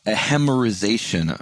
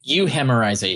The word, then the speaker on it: euhemerization: And you call this a hemerization, or I might be mispronouncing that. It's euhemerization.